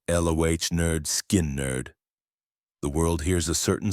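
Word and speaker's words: Lynyrd Skynyrd: Pronounced lo nerd skin nerd.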